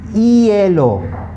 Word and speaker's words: hielo: Okay, H is the only alphabet in the Spanish language that's always completely silent. It has no sound.